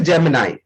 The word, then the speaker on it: Gemini: So the real pronunciation of this word is Gemini.